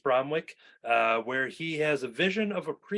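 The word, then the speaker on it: Bromwich: Is this Bromwick? Is that how you pronounce it? Yeah, East Bromwick, where he has a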